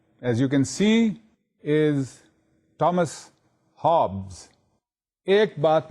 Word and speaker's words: Thomas: Please don't call it Thomas. It is Thomas, written as Thomas, pronounced as Thomas with a T. So don't commit that mistake of making the T soft. The T is hard.